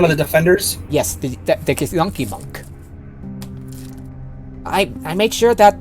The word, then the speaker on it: Githyanki: The proper pronunciation with the Gith races is Githyanki and Githzerai.